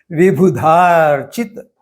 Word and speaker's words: विबुधार्चित: और विबुधा और अर्चित, ये 2 शब्दों के संयोग से वह बना है, इसलिए वहां भी उच्चारण थोड़ा दीर्घ है। विबुधार्चित।